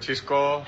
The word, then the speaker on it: Xisco: respondeu com bom humor e ensinou Kesman a pronunciar corretamente o seu nome. Olá a todos, que tal? Sou Xisco.